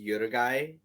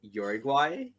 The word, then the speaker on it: Yuri Guy: to the fact that it's pronounced yoda guy instead of uruguay i thought it was